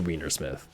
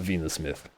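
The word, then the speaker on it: Weinersmith: know it's probably like german based but it's pronounced a wienersmith it's not venus myth i don't know why i added a glottal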